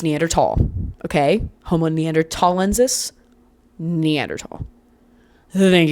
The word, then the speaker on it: Neanderthal: as ignorant English speakers, kept the H and now we just confuse everybody and now everybody pronounces it incorrectly and it makes me really mad. It makes me so mad. Um, it's Neanderl.